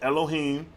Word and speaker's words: Elohim: Pronounced Elohim.